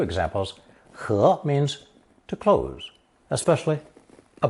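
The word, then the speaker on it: 盍: its cover or lid, pronounced second tone, he, he.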